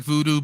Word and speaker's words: Vudu: It sounds like voodoo, but it's spelled VUDU.